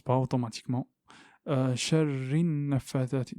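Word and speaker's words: النفّاثات: Donc je vais du ra au nun. Ici nous avons un lem, mais on ne le prononce pas. Pourquoi? Parce que c'est une lettre solaire. Le nun est une lettre solaire. On n'a pas besoin de le connaître. Il n'y a rien au-dessus du lem. Donc, quand on voit rien, on ne le prononce pas. Donc, c'est une lem solaire.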